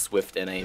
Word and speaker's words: SVIFT NA: I think it's just pronounced SWIFT NA, but yeah, I'm going to keep pronouncing it wrong because it's a European name.